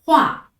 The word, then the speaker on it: 话: 下一个字呵乌啊画，呵乌啊画，组词变化、说话。